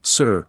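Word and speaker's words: 呬: shu with a deep sigh, which is associated with the liver. He, pronounced like her with a yawn, which is associated with the heart. Si, pronounced like sir with a slow exhale, which is associated with the lungs.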